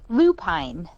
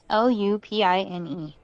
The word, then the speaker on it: lupine: a type of what i have always called lupine l-u-p-i-n-e lupine lupine okay i have not found a single person in any state that has pronounced that word how i pronounce it and i'm like but it's blue pine like that's a texas